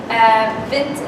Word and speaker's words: Vint: Vint is spelled mint, but with a V to get a good understanding.